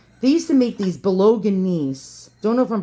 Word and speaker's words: Bolognese: Here are the Bolognese hounds. And that's how it's pronounced.